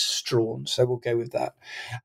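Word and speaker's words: Strahan: called William stra um for a long time I didn't know how to pronounce his name but I've been assured it is Strawn so we'll go with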